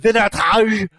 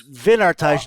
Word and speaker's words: Wynardtage: So Germany's own WYNARDTAGE. You are a songwriter for Yes. WYNARDTAGE.